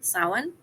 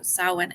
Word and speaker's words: Samhain: If you know even the bare minimum about Irish Celtic names, you'll know that certain letters don't get pronounced the same way, especially if they're in combination with others. So Sow-en is the pronunciation that